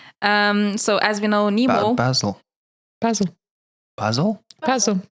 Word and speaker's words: Basel: Basel, like the herb. That's the herb.